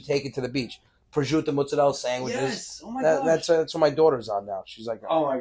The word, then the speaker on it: prosciutto: I was like, okay, Gab, that's what American people call prosciutto. Yeah. And she's like, they don't even pronounce it right.